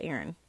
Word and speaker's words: Aryn: I spell her name Aryn, pronounced Aaron.